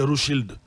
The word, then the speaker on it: Rothschild: Et il avait été poussé par les Rothschild. C'est comme ça qu'on prononce ça.